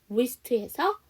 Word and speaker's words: wrist: wrist에서 W가 묵음이지. WR로 시작하는 단어는 W가 묵음이에요.